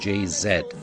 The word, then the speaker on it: Jay-Z: to musicians Beyonce and JayZ of course they are now the owners of Spotify so Beyonce formerly of Destiny's Child and jayzed of um sorry I'm being told it is JayZ Beyonce and JayZ but